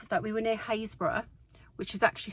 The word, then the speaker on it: Happisburgh: And on top of that, we were near Haysborough, which is actually spelt Happisburgh, and I was saying it wrong for a while, but it's pronounced Haysborough.